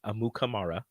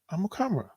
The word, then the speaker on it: Amukamara: the Captain Show yesterday, Prince came on and he corrected a thing that we've been saying his name wrong. It's not Amukamara. It's Amukamara. Amukamara. And we've been saying it wrong forever. No, he said that's how his parents say it, but when they came to America, it's Amukamara. Amukamara. Yeah. That's just how people said it.